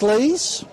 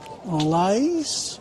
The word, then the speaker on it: Lees: Across to Jack Lees. Lays. Yeah, Jack Lees is correct. He said it right the first time.